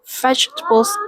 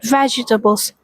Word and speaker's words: vegetables: She dropped the T in stuffed and also shortened vegetables. Instead of saying vegetables, she skip the second syllable and say it like vegetables.